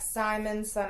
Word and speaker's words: Simonson: All right, so he says my last name is pronounced like Simon, son of Jonas.